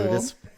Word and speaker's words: pterodactyl: pterodactyl. Listen, you're fucking right. Because the P is silent.